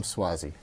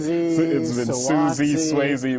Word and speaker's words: Suozzi: you know with the pronunciation of his name which i think is something that's been tellin Suzy Swayze but now they know it's tom suozzi I think the fun